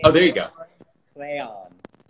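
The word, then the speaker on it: Rheon: Rayon. He's Welsh, and that's how you pronounce his name.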